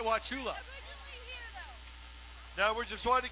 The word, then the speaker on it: Wauchula: and where is Troy out of Kirk Florida wachula is that right Wauchula now we're just going to get the pronunciation correct thank you is that like Chattanooga